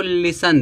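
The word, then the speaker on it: listen: टी एन आया है टी क्या हो जाएगा साइलेंट रहेगा टी टी साइलेंट रहेगा तो क्या हो जाएगा लिसन लिसन मीस क्या होता है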